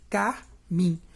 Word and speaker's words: carmim: E no último verso, de carmim. Se você pegar a palavra carmim, carmim, carmim, a sílaba mais forte é o mim.